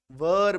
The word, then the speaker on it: were: ठीक है, तो वेयर नहीं बोलेंगे, वर बोलेंगे। ठीक है, वर, आप सीधा ऐसे भी बोल सकते हो वर, ये भी सही है, बट रियल व और ऐसा बोलते हैं।